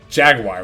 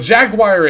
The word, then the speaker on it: jaguar: to pronounce that word Jaguar well Jaguar is the US pronunciation and then Jaguar is like the the I think the European pronunciation there's like that bit